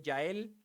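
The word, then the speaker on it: Jael: Aela, se escribe con J, pero yo prefiero decirle Yael, ¿eh?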